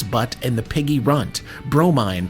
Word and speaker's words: Bromine: and the Piggy Runt, Bromine, pronounced Bro, Mine, Cat, Mother of Pearl,